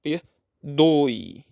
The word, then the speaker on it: perdoe: Oi de tongo decrescente o som da vogal é o o e o e tem o som de i é fraco perdoi é a vogal o